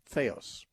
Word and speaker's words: theos: our website and listen to those things theos is spelled t-h-e like the it's t-h-e-o-s feos dot org slash media and you can get